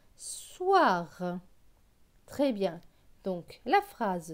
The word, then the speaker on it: soir: est-ce avec aux ir aux ir se prononce ouah ouah donc s es war soir très bien donc la